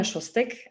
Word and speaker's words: Szostek: start a little bit more about myself shostek thank you Josh for pronouncing my last name correctly it's not an